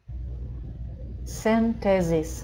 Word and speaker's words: synthesis: Потому что первая C встретилась у нас, единственная C, которая здесь есть, встретилась с I, читается как S. А вот эта S, она стоит между двух гласных, читается как Z. Последняя S читается как S, как нормально, как ей положено.